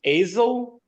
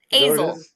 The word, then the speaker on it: Azle: it's pronounced Azle. Azle. Azle.